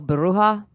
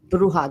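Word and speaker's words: bruja: black magic like the dolls and the oh bruha bruha there you goia there you go bruh um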